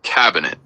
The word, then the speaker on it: cabinet: You say cabinet with the emphasis on the first syllable like cabinet.